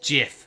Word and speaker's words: GIF: The creator of the GIF says it's actually pronounced Jif, but he's still bloody wrong. Jif is a peanut butter. Yeah, well, guess what? It's not the file format.